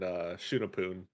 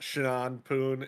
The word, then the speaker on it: Shunapoon: Yeah, UA was there, Half Blue, and Shunapoon. Yeah. Also, if you guys don't know, it's not Shanpoon, it's Shunapoon, or Shunapoon. however they pronounce it.